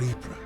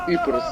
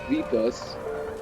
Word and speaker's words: Ypres: Ypres, a town in ruins. Dubbed Wipers, by German troops due to its difficult pronunciation.